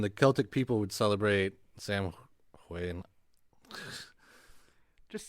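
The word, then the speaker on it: Samhain: yeah but um the Celtic people would celebrate Sam Wayne just say sour a couple of whites no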